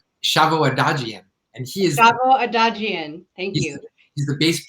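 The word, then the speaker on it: Shavo Odadjian: I don't know how to pronounce this name. Help me out. Shavo Adagian. And he is Shavo Adagian.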